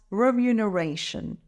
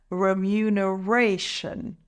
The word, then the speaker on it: remuneration: benefits it's pronounced as remuneration let's break it down remuneration the stress is on the fourth syllable raw let's say it together remuneration remuneration word number nine